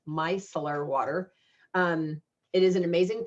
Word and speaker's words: Micellar: I was calling it Micellular Water, but if you look at it, there's not enough letters in there to be Micellular Water. So it's Micellar Water.